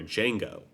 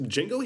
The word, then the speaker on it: Django: This mainly gets explored via the conflict with Remy's father, Django. The D is silent.